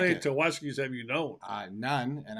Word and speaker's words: Tawaski: We'll put the picture up of this guy and tell you about this 4-star receiver Tawaski Abrams. We won't forget his name, Tawaski. I How like many it. Tawaskis have you known?